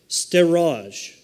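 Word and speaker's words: storge: Number two, steraj. And it looks like storage to me, but that's not the way it's pronounced.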